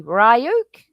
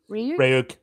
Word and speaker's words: Ryuk: And I even get the point of what Oh, you have to pronounce um his name for me. Rayuk. Ryuk.